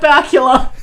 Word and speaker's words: Bakula: history maybe just have Scott Bakula which rhymes with Dracula and that's a scary